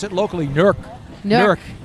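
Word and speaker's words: Newark: they pronounce it locally nerk nkk that's the local pronunciation I'm from New relle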